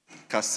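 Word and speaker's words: Kasei: the health coordinator for the hospital at um Cass. The name is Cass. That's St. Luke Hospital. So over here is spelled K E S E I. It should be K A S E I.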